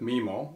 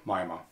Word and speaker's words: MIMO: now first of all let's focus on the pronunciation of this right so you can either call it memo or you can also call it Mima mimo or mimo is